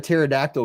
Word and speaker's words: pterodactyl: pet rock to fetch why can't you hear a pterodactyl go going to the bathroom because the p is silent uh what was the